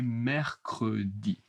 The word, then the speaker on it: mercredi: 3e jour, le mercredi. Attention, mercredi, c'est un peu spécial beaucoup de R. Mercred. Mercredi petit à petit, hein. Premier exemple. Il fait du sport tous les mercredis.